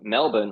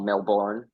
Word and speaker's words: Melbourne: out because this is so Melbourne or Melbourne As Americans say it's totally fine we've